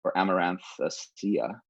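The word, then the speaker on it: Amaranthaceae: But the greater family Amaranth, or Amaranthacea, is how you say it in Latin, and it has about 2,000 species in it.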